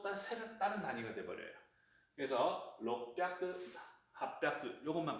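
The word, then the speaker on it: 六百: 그래서 록뼈크, 핫뼈크 요것만 발음에 좀 유의를 해주세요.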